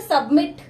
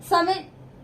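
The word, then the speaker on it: submit: जैसे सबमिट, समिट ऐसे नहीं बोलते, सबमिट ट साउंड आ रहा है, अकर र साउंड आ रहा है, तो ये लास्ट वाला कॉन्सोनेंट क्या है?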